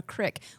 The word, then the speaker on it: creek: It's called a crick. Oh, is I that know. what you say? Well, Thank you. But it's not. Thank you. It's not because I see the word creek and I pronounce it crick.